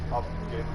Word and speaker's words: Abgent: Hallo, hallo, Abgent. Ist richtig ausgesprochen.